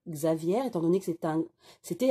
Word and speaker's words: Xavier: prédictions de chico aviaire donc ça s'écrit xavier mais ça se prononce aviaire étant donné que 70